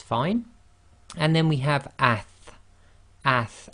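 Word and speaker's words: ث: And then we have ath, ath, and now this is as in the English word athletics. We've got to be a bit careful here. There are some countries where they might pronounce this as as, and it's not a sa sound, it's a th sound, so it's ath as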